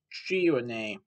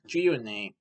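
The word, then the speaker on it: Greaney: It's actually based on a 2009 novel of the same name by Mark Gironey, which is spelled G-R-E-A-N-E-Y. Mark Gironey.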